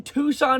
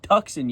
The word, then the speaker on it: Tucson: No, they're going to get me in Tucson, Arizona. I pronounced your Tuxen yesterday." My mom had to correct me.